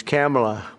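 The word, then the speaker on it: Kamla: It's Cam right? Cam as opposed to Com.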